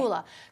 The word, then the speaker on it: Kula: Am I pronouncing that correctly? Yep, Okay. Kula.